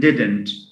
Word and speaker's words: didn't: We say doesn't and didn't. Sometimes I've noticed that some foreign language learners tend to say didn't and isn't, doesn't. Now, stress falls on the on the first syllable.